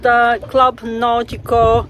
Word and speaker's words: Club Náutico: It's called Club Náutico de Gallineras. That's the English pronunciation.